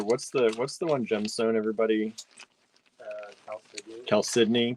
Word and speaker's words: chalcedony: Chalcedony. Chalcedony.